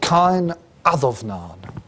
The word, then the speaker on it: Cáin Adomnáin: clean the board is a text called kind of Nod okay the this is the way we pronounce or one way of pronouncing these things in old Irish it's an interesting document